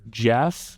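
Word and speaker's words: Geoff: But it's a documentary about the illustrator Jeff. It's spelled G E O FFF. Uh Jeff McFetridge.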